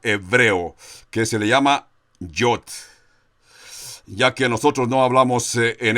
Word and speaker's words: Yod: 10 del alfabeto hebreo, que se le llama Yod.